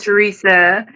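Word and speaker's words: Theresa: your spiritual journey dear it said the H is silent but I'm not oh that's what's up um my spiritual journey so my name is Teresa and I am um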